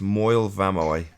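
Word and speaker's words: Moel Famau: vampire sorry we've got the pronunciation it's moil vamoi how do i spell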